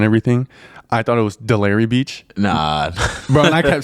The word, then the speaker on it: Delray Beach: I'm here in Delray Beach. That's how you pronounce it, right? Yeah.